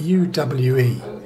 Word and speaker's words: Uwe: name because it's spelt U-W-E. And I always say the way to spell it is to use the word Hoover and not the H off, because it's Uwe or Uwe.